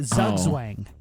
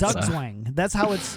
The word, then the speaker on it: Zugzwang: Why don't you just say it? Zugzwang. Okay. That's, Zugzwang. That's clearly how you say it. Zugzwang. Z makes a Z sound.